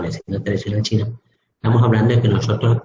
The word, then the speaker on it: chi: acupuntura o medicina tradicional china, estamos hablando de que nosotros tenemos una energía principal o básica, que es la energía chi o ki, que se escribe así, pero se pronuncia chi, donde estamos hablando que